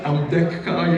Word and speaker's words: Ambedkar: Ambedkar, let me pronounce it right, Ambedkar, yeah, to develop a constitution for India.